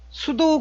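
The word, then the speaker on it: pseudo: 가상 클래스 가 영어로 수도 클래스라고 그래요 스도 에 화면에 보시는 거 이제 숯 옥 발음이 좀 어렵죠 앞에 피가 무음 이에요 수도 그랬어요 수도 라는 게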